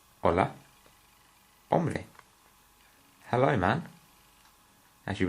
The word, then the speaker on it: hola: spelled like that but the H here is silent so rather than saying hola we are saying hola now this is a very